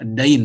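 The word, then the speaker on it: دَيْن: Ini bukan din ya, dain bacanya.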